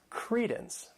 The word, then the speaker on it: credence: The next noun is credence. This word has 2 syllables and the stress is on that first syllable.